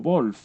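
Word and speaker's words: Wolff: en el que, bueno, Wolf o Wolf, ¿no? Según la pronunciación alemana, aunque la española pues podría ser Wolf perfectamente, pues instaura una ontología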